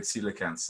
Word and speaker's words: coelacanth: fin or celiacanth grade tetrapods or tetrapod grade celicans that's the correct way to say so we